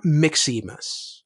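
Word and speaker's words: Mxymas: twas the night before Mick CMAs this was the night before Mick CMAs Mick CMAs is spelled MXY mas and I'm not gonna tell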